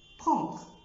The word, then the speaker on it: prendre: كمان فيرب زي فيرب بروندر بروندر، ما نطقتهوش بروندر او بروند، نطقته بروندر، الاو ان فويل نازال ان والال في الاخر ما نطقتهاش، نطقت الحرف اللي قبلها الاخر. prendre pantalon pantalon، ما نطقتهوش بنطلون، نطقتها بنطلون.